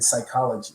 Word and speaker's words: psychology: you know like the silent p in in psychology you know all of those things just kind